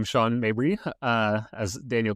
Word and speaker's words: Sean Mabry: Yeah, so my name is Sean Mabry, uh as Daniel correctly pronounced.